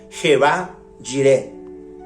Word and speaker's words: Jehová Jireh: Jireh representa un nombre combinado que se deriva de Jehová, siendo la forma de pronunciarlo Jehová Jireh.